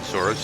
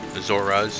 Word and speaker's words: Zora: I'm left-handed Link and we're going to go ahead and continue in Zoro's domain. Zora's domain. That's how I'm supposedly supposed to pronounce it.